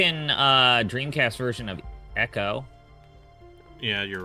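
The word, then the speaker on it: Ecco: it spelled EC o it's e Eco right no it's always been Echo the dolphin I I I I'm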